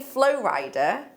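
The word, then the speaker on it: Flo Rida: The name Flow Rider is just Florida. You see it? Yes! Yes! Yeah, it is. It's spelt Florida. It's just spelt Florida, but he pronounced it.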